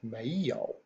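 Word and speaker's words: 没有: know if we use those two characters which are pronounced Mayo and again you guys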